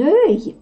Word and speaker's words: œil: Вот это сочетание, когда слиплись две буквы О и Э, это тоже Э читается. Un œil – это глаз, потому что глаза – это другое слово.